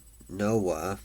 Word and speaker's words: Noa: Then in Hebrew, uh, Noah, N O A, is pronounced Noah.